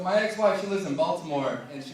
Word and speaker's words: Baltimore: Like, they don't call it Baltimore, they call it Balmore. This dude was like, hey man, welcome to Balmore. I was like, what are you talking about? You know, Balmore. I was like, dude, I'm literate. There's a T in the middle of that fucking word, and everyone that lives here isn't allowed to mispronounce it.